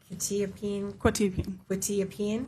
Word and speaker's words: quetiapine: quetiapine. Correct. Thank you. I'm going to pronounce the Seroquel wrong every single time.